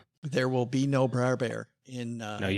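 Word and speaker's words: Br'er Bear: There will be no Bra Bear in uh No, you have to say it the right way. Bra bear. That's how they say it.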